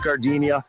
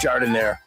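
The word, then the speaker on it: giardiniera: And guys, when you're at the counter, don't call it Gardinia. It's pronounced jard in there.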